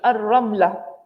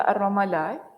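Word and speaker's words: الرملة: Okay, Ar-Ramlah. Ejaannya alif, lam, ra, mim, lam, ta marbutah. Tapi di sini dia letak Ar-Ramalah. dia letak Ramallah. Tapi bahasa Arabnya Ar-Ramlah.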